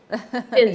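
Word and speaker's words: Intsinzi: Please tell me how to say it. Is it Ithinzi? It's the victory song that I've been playing. Yes. Ithinzi, yes. Right.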